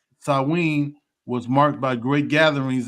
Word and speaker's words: Samhain: If I'm pronouncing that right, Samhain. No, it's Samhain. It's Samhain like that one.